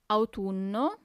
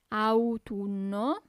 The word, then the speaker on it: autunno: Then we have autumn, autunno, autunno. So you really have to pronunciate those U's, okay?